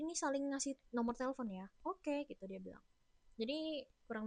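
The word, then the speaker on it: 幺: Ingat kan kalau angka 1 dibacanya yao. 0 itu ling.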